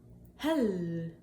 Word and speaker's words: hell: Hell, short E.